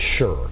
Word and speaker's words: Schur: I think I've said it wrong. Elizabeth Schur. Sure.